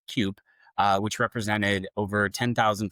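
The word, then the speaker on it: CUPE: So, for those of you who uh may not be fully aware, essentially the uh Canadian Union of Public Employees, I think they're pronounced CUP uh which represented over 10,000 flight attendants from for Air Canada issued a 72-hour strike warning.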